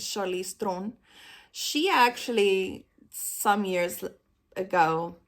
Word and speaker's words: Charlize Theron: Like Charlize Theron, because that's how you really say her name, is Charlize Theron.